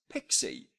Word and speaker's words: PXE: uses a technology called PXE, an acronym for preboot execution environment, but it's pronounced at least by most people as pixie. So, kind of like pixie dust or fairy dust.